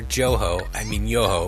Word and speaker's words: Johoe: Let's go back to 2014 when the relatively unknown white hat hacker Johoe, which is the correct German pronunciation.